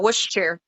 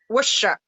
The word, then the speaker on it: Worcestershire: I should know from Worcestershire. Worcestershire. I know that Worcester. the Shire is supposed to be Shaw.